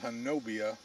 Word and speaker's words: Honobia: We have many reports right here in southeastern Oklahoma near a place called Ho Nubby. It's spelled Honobia, but they pronounce it Honobi for some reason.